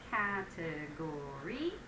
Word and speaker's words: category: Number 3, we have category, which is 4 syllables, not 3.